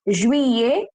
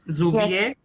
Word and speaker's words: juillet: This is pronounced with the sound A and this is pronounced with the sound E.